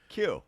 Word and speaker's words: Kuh: Yeah, it's pronounced like the letter Q. Q. Okay. But it's spelled with a K-U-H.